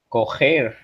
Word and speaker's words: correr: So if the double R makes an H sound, how do you pronounce correr in Portuguese? Coger. Cuidado.